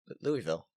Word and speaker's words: Louisville: Louisville. Wrong. Louisville. Louisville. Louisville. There you go. Louisville. But it's okay because only people from Louisville or around Louisville can pronounce it right.